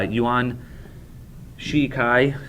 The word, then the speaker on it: Yuan Shikai: is I just want to make sure I'm pronouncing it corre correctly uan Shiki and so uh Yuan shikai these two individuals uh VI for control of